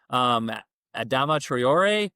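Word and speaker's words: Adama Traoré: Adama Traore is how we pronounce it.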